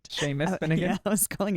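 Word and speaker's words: Seamus: do you say his name I was not pronouncing that right Sheamus then again I was calling him CMAs no it says I'm half and half Sheamus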